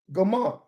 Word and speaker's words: Gomer: Gomer. Hebrew. Gimel Mem Resh. Pronounced Gomer.